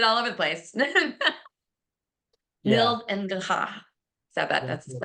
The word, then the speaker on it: Nils: It's Nils, actually. Nils. See, Yeah, I just ruined it all over the place. yeah. Nils and Gaha.